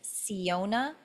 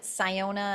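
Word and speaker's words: Syona: website I'm transitioning so the new name is Siona some people will pronounce it soniona and that's fine too It's s y o n a.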